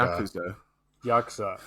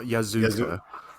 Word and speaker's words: Yakuza: Yakuza. Thank you. Not Yazuka.